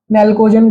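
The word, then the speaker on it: pnictogen: इसको क्या बोलते हैं, पी नेल्कोजन। अब ये जो पी है साइलेंट होता है, नेल्कोजन ग्रुप।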